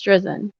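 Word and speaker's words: Drizin: Just for the record, Judge, it's Drizzen.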